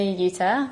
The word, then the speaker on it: Yuter: passions in life so my name is UTA I actually recently got married so I'm actually